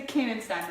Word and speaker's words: Koenegstein: Hey everyone, I'm up here in Jackson, Tennessee with Koenegstein, right? That's how you pronounce it.